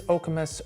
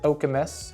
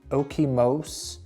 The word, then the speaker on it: Okemos: Is Okamus overrated? And if you've been doing your research, first of all, you pronounce it okamus, not okimos or okimos.